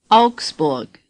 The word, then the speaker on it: Augsburg: more City oxberg say Augsburg the letters a you are pronounced ow as in cow say Alex bull as